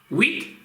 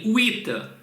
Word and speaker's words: huit: Huit? Нет, друзья, не huit, а huit. Звук «ü» должен быть кратким.